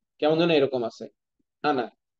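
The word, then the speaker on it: أنا: কেমন যেন এরকম আছে আনা কোন টান নাই এটা এরকমই উচ্চারণ হবে ঠিক আছে আনা মানে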